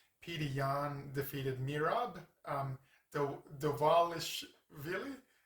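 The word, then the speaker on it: Dvalishvili: Yan defeated Mirab um Dwalish Vill or they might pronounce it Mirab Dwalish Willie. That's what they say. I'm like whatever. There's V's in there, but maybe they pronounce it W for some reason.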